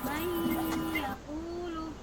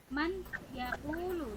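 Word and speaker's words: مَن يَقُولُ: Nun sukun bertemu ya, membacanya mayyaqulu. Mayyaqulu. Coba ikuti ibu sama-sama. Mayyaqulu. Yaqulu. Ya betul. Fatham mubina. Fatham mubina. Misalnya ibu baca, misalnya ya ibu baca gini. Man yaqulu.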